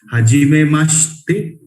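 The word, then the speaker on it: はじめまして: हाजिमे मास्ते, this she and they will pronounce combined. Hajime maste, we are meeting first time.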